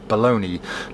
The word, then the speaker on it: Bologna: these are baloney bottles baloney spelt bULOG nut but pronounced baloney now if you don't